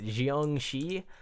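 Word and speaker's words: Jiangshi: But this is the, I believe how you pronounce it is like Jiangxi.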